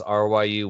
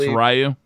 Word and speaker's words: Ryu: That's R-Y-U. If you're interested in It's pronounced Ryu. It's debatable. It's closer to Ryan, so I prefer, Ryu.